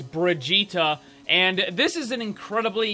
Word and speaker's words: Brigitte: is finally here guys the name and the pronunciation that they're giving us is Brigitta and this is an